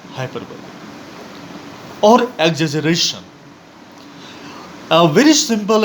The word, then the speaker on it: hyperbole: The spelling of hyperbole is Hyperbole, but please don't pronounce this word as hyperbole, it is pronounced as hyperbole.